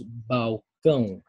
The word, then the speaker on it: balcão: o balcão balcão Néa L aqui um sonido de U então deos balcão balcão como parece que como welc balcão balcão tá bom balcão